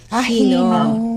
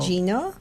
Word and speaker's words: Gino: But here in the States, they always pronounce what they see. Okay, so it's So, Gino. so Hino it's pala, Hino. Hino. Gino, but in the Philippines, it's Hino. Hino.